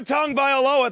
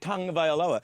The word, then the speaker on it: Tagovailoa: Because while Tua Tagovailoa, that's how you say his name, and I like saying it, Tagovailoa, is a 22-year-old Hawaiian coming off an injury